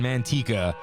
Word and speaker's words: Manteca: just LA to me we all pronounce that town Manteca if you grew up around here you definitely know how to pronounce it because of the Manteca